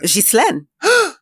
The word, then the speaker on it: Ghislaine: I feel like everybody's mispronouncing her name. I had an aunt that was her name. You did? Yeah, and that's not how you say it. How do you say it? Ghislaine.